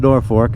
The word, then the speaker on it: Norfolk: town called norfolk well it's spelled n-o-r-f-o-l-k but it's pronounced nor fork if you're from around here and uh hell yeah